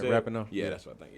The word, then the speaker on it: Rapinoe: I said it right, Rapinoe?